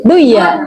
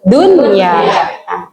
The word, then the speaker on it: dunya: ketemu ya kan, tapi tetap tidak boleh dibaca apa Ibu? Duya, tapi dunya. Ini kan nun mati ketemu ya kan miliknya idgham bigunna, tetapi dibacanya idhar jelas.